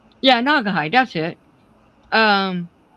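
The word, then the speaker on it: Naugahyde: I don't know how to pronounce that. Yeah, Nagahide.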